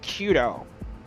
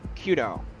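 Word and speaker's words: Quito: It's called Kudo. It's in Ecuador. Kudo. Qu Ui T O I think it's spelled.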